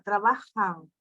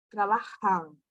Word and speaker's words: trabajan: un restaurante trabajo trabajo esa pronunciación de m al final no es como la pronunciación de m por ejemplo entrabalio de portugués es otra valium ustedes hacen una la pronunciación a la Salada sonido nasal en español ese sonido hace una sal no se usa y la pronunciación de la n es solo con la boca solo con la